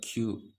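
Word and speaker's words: きゅう: और यहाँ पर 9 को भी प्रोनाउंस करने के 2 तरीके हैं। ओके। कु और क्यू। कु हो गया, की, यू, उ, क्यू। और यहाँ पर मैं बोलूँगा कि आप क्यू को यूज़ करें, क्योंकि क्यू जो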